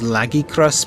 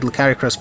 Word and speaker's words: Lagiacrus: I'm aware of that I think the correct pronunciation is laggy crust but I have no said Licari crust for so long that I'm not going to change so if that